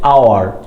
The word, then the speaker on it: hour: انت نطقت ايه هنا لما قلت لي ان hour؟ ان hour نطقت الاتش؟ ما الاتش ها، هل نطقت الاتش؟ لا.